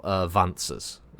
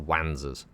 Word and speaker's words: Wanzer: They were called Vanzers, spelled with a W, so little Wanzers. But it was supposed to be walking pantsers. That's why they're called Vanzers.